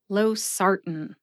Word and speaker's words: losartan: Either way you say it, emphasize that second syllable, SAR. See if you can hear that emphasis when I say it slowly. Losartan.